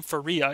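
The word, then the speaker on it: Pharah: There's So apparently she pronounces her daughter's name Faria, even though we've all been pronouncing it Farah.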